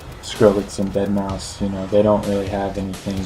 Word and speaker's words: deadmau5: Is it deadmau5 or deadmau5? I don't give a fuck. But it's deadmau5, but it's spelled with a 5.